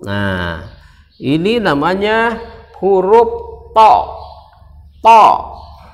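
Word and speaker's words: ط: To. Tulisannya THA, dibaca to. Jadi ujung lidah bertemu dengan ujung gigi, kemudian seperti dipantulkan. To.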